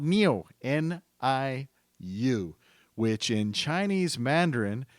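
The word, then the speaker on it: NIU: two because he's talking about a company called Neo n-i-u which in Chinese Mandarin means cow so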